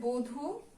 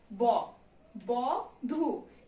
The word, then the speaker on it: বধূ: তারপরে দেখো দেয়া আছে বধূ, শুধু যদি এটাকে আমরা উচ্চারণ করি ব ব ধু, তা তো না, আমরা কি উচ্চারণ করি, বো ধু।